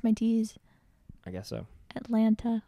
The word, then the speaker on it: Atlanta: are currently in what chris makes fun of the way that i say atlanta it's funny because i i was not the first person to bring this up who brought it up first your mom my mother what did she say she said say that again anyway atlanta just say i just pronounced both of the t's atlanta say that one city